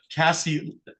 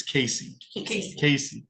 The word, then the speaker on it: Casey: The witnesses who may be called in this case by the people of the state of Michigan are Officer Jacqueline Lindeman, Cassie, it's Casey.